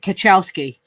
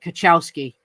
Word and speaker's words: Kwiatkowski: Yeah, that is pronounced Kwiatkowski. I asked Polish guys, how do you pronounce that? You pronounce it Kwiatkowski.